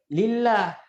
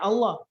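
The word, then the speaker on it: لله: Kalau ada alifnya, Allah bacanya. Kalau tidak ada alifnya, lillah. Ya, gini contohnya. Nah, gini apa bacanya? Allah. Kalau begini, nah ini apa bacanya? Lillah itu bacanya. Lillah itu bacanya. Paham ya? Lillahi ma fis samawati wa ma fil ard. Lillah. Jangan dibaca Allah.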